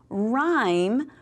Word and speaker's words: rhyme: And then rhyme. We don't say rhyme. That H is silent, so that we would cover that up with our little ghost.